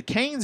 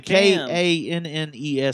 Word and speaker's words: Cannes: All right, so apparently there's a rumor that at the is it the Cannes or Cannes Film Festival? The Cannes. The Kannes Film Festival. Cannes? Cannes? Cannes. It's Cannes Film Festival.